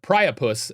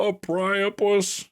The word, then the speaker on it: Priapus: of Mercury uh or priapus as his name is. I probably mispronounced the A priopus. Really? A priopus? Priapus. Priapus. Wait, isn't that the terminology